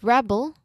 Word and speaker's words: rebel: While the first syllable, not first syllable, but first word where the first syllable is stressed like rebel.